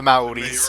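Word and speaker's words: Māori: In my final days, I will be with my true people, not the Mexicans, but the The, Ma- Maoris, the the Maoris, Maori.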